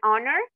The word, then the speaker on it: honor: escucha con una O aunque estas palabras tengan esta H esta H está ahí pero no es entonces aquí es donde vamos a hacer uso también del artículo a con palabras que lleven una H muda Por decirlo así okay an honor un